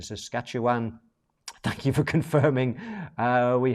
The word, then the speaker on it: Saskatchewan: Janine says I'm saying it right. That's Saskatoon in Saskatchewan.